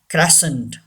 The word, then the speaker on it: crescent: The fourth one, crescent. Say this word. Crescent. C is silent.